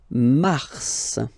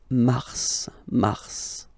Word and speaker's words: mars: Okay, so in a way it's an exception because normally final S is not pronounced in French. Okay, we've got some exceptions, and this one is one of them. So mars, pronounce the final S.